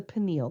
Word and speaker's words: pineal: Again, pronounced the pineal gland.